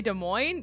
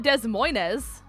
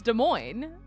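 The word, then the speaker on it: Des Moines: S when they say De Moine it's it's simply just not the S is silent it's not Des Moz it's De Moine I've I've never said DES mois in my life it's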